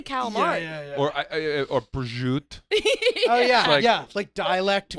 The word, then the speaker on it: calamari: do you say c-a-l-a-m-a-r-i calamari thank you it is not Gala mod that drives me nuts